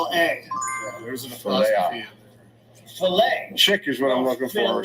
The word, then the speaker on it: Chick-fil-A: l A's ft chick is what I'm looking for Chic what is it CH I or c i k or c c k no it's not Chic it's chick but my friend used